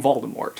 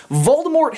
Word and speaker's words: Voldemort: of all time Voldemort you pronounce the T is it Mort or more I just feel pretentious saying more so I'm saying Voldemort and the links he